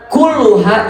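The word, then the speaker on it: كلها: Pastikan untuk membacanya sebagai: hayatuna kulluha ibadatun. Bukan "kul."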